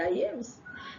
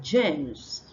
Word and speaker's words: James: instead of Jo jaw they say yames instead of like my name is James my son name is James they say sister yames instead of James and we have George and not Yos okay now we have the